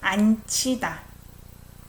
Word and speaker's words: 앉히다: When I pronounce it, I say 앉히다. CH sound.